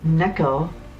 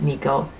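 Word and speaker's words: neko: And Neco, which so many people pronounce it Nico is cat.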